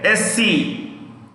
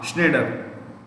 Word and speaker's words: Schneider: Nestle's CEO is, right, Ulf Mark Schneider. You write this. ULF, Ulf, space, Mark, M-A-R-K, Mark, Schneider, S-C-H-N-E-I-D-E-R, Schneider, S-C-H-N-E-I-D-E-R, Schneider.